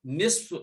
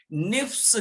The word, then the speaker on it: نصف: بعض لوگ اس کو غلط تلفظ کر کے نفس کہتے ہیں، نون کے بعد فا پھر صاد کہتے ہیں، حالانکہ یہ غلط ہے. نون کے بعد فا ہے اور صاد لاسٹ میں نصف.